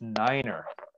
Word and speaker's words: niner: nobody knows okay so the number nine in the fnatic alphabet in aviation shipping and everything else is niner niner and the reason for that is the germans because how do you say no in german nine nine science exactly the same so if somebody tells